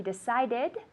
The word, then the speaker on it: decided: He decided to accept the job. It's not fast. It's an extra syllable.